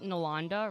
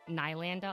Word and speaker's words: Nalanda: So my name's pronounced Nalanda, right? And, it's funny because... Okay, actually I lied. It's not funny. But people always call me, Nylanda a lot, or Nalanda. I get that a lot.